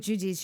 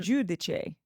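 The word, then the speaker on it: Giudice: Teresa changed the pronunciation of her last name. Yeah, You can do anything. and then went back on it. Who can say what it's? I'm going with Judice. It's very fancy. But it's actually Um, Judice.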